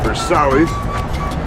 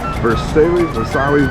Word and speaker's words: Versailles: So, here we are in Miami and we are at Versalis. Versailles. Bakery. I believe that's how you say it.